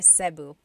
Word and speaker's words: Cebu: So, technically in the Tagalog alphabet, the letter E can be pronounced E or E like the letter I. So, I say Cu. Cebu. And I know some people say Sabu, but usually it's either Cebu or Sebu.